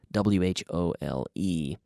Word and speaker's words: whole: So yesterday we talked about this whole, W-H-O-L-E, pronounced like agujero, whole, H-O-L-E, but W-H-O-L-E, the whole, I ate the whole cake.